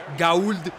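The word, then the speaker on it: Gauld: Así lo celebra con Ryan Gold, Ryan Oro. Ya se están riendo. Ya es que es muy chistoso, ¿no? Ryan Gaul, pero se pronuncia gold como oro.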